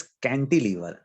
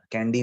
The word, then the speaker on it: cantilever: हाँ, इट इज कैंटिलीवर, कैंडी नहीं है, कैंडी मतलब आप वो क्या खाते हो, आइसक्रीम खाते हो, वो कैंडी की Sweet बात नहीं चल रही। candy. हाँ इट इज कैंटिलीवर, कैंटिलीवर।